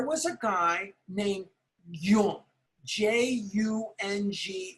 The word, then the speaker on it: Jung: J-U-N-G is pronounced Jung, not Jung or Young, but Jung, Carl Jung.